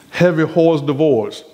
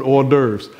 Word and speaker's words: hors d'oeuvres: preparing for us these heavy horse divorce and then how you put that no that's that's that's stefan's pronunciation that's that's that's not the real but hors d'oeuvres uh before we go